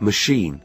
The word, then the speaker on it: machine: the other food stress the word machine is stressed on the second syllable alter her face hadn't